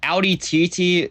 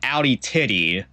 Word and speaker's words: Audi TT: Like if you think about it though as well like Audi Titi if you pronounce it wrong you get Audi titty which is a which is quite literally what it looks like and that just I